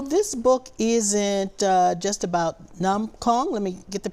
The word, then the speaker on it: num kong: So this book isn't just about Nam Kong. Let me get the pronunciation correct. Is that right? Nam Kong. Nam Kong or donuts.